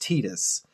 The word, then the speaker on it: Titus: I absolutely hate the fact that his name is pronounced Titus.